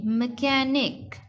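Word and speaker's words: mechanic: MECH, यहाँ पे जो H है वो थोड़ा सा साइलेंट हो जाता है। ANIC, मैकेनिक, मैकेनिक। एच जो है वो यहाँ पे साइलेंट है।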